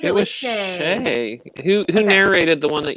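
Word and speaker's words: Shai: But I thought she was good, and she said Shay. I like Shay better, and for the rest of this live discussion, I will be saying Shay.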